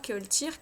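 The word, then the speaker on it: ceoltóir: Ou alors Keoltir, qui veut dire, enfin ça s'écrit Keoltoire, qui veut dire musicienne parce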